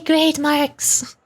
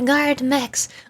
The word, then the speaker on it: guard mechs: I keep wanting to say grade marks. They're not grade marks, they're guard mechs.